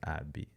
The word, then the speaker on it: Abby: Okay, it's pronounced Abby. Abby. Okay.